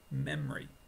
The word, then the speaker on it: memory: comfortable I feel comfortable next one memory it's possible quicker is memory memory I have a good